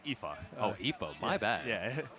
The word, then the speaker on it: Aoife: Tetris 4, which has Aofi, Kiradev, Rose, and Storm and Norman. Yeah, it's actually pronounced Aoife.